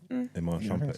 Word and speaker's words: Iman Shumpert: Iman Shumpert, did I say his name right? Iman Shumpert, yeah.